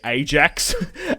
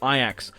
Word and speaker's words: Ajax: how Ajax is spelled, I'd probably say Ajax as an Australian, but obviously it's Ajax.